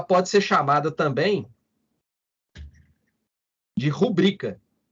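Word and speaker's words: rubrica: ser chamada também de rubrika a atenção aí para pronúncia né No Português Popular muita gente às vezes fala pública o português formal é paroxítona rubrika então ementa é chamada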